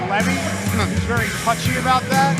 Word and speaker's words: Levy: i caution you blake the pronunciation of his name is levy he's very touchy about